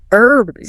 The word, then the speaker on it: herbs: Herbs. See, I say herbs, I drop the H. The H is silent to me, like an hour or honor or honest.